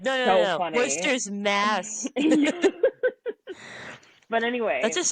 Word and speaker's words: Wooster: And it's not like Worcester, Mass, where we have it spelled like the old English way. It's literally spelled Wooster. But if you say Worcester, the locals will correct you immediately. It's not Worcester, it's Worcester.